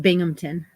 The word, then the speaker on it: Binghamton: is Binghamton and that's how you say it Binghamton and um that is a video it is